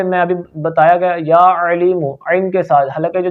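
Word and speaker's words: عليم: ٹھیک ہے، یا علیم، عین ایک ہوتا ہے حمزہ کے ساتھ علیم، جلدی میں نہیں پڑھنا یا علیم یا علیم، غلط ہے، یہ تلفظ بھی غلط ہے، کیوں؟ حمزہ پڑھ رہے ہیں علیم، عین حلقے درمیان والے حصے سے ادا ہوتا ہے، ٹھیک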